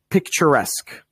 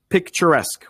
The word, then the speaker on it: picturesque: Picturesque. Picturesque. We're going to be doing some more pronunciation after a moment.